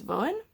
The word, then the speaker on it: Voen: The pattern, like I said last time, I think I had transposed the letters and was pronouncing it wrong. It's Voen.